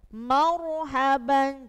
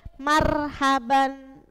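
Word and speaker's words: مرحبا: harakatnya fat fathah maka ronya harus dibaca tebal Marhaban Jadi tidak boleh Marhaban salah karena apa Karena r-nya harus te tebal bukan tipis sama yang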